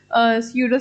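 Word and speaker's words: pseudo: एकदम proper science नहीं है, इनएग्जैक्ट साइंस है या फिर स्यूडो साइंस। ठीक है, स्यूडो साइंस में पी साइलेंट होता है, तो स्यूडो साइंस भी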